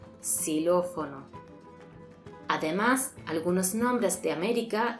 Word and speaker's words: Xilófono: Aunque al principio de palabra se pronuncia /s/. "Xilófono".